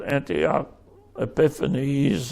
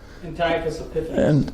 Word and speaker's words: Antiochus Epiphanes: This probably on this chart is in this area, and talking about what my understanding is called Antioch Epiphanes, otherwise how do you say it, Tom? Antiochus Epiphanes.